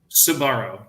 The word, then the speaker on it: Sbarro: of it it's like how do you pronounce it sabaro Sbarro not Subaru I've heard good things